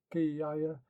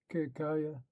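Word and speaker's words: Ketkhuda: Gelfi, the deputy, footnote, by deputy is meant the Ketkuda, commonly pronounced Kiyaya, or in Egypt Kikaya, who was the deputy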